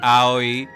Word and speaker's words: Aoi: I always hear it as Aoi, you know. So like, Owie, yeah.